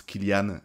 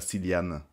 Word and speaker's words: Cillian: Parce que ouais, on prononce Killian et pas Cillian.